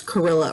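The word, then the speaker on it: Kurilla: uh k j pronounce carilla rhymes with gorilla but it's k-u-r thank watercolor marker yes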